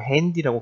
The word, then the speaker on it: Handy: das Handy 요거는 이렇게 쓰지만 한디라고 읽지 않고 핸디라고 그대로 읽습니다. 영어에서 온 것처럼 그렇게 읽습니다. das Handy liegt 이렇게 놓여 있습니다.